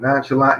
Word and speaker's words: Nonchalant: Not nonchalant. Now a viewer asked me pronouncing your name, chalant or chalant? Nonchalant, just like the word.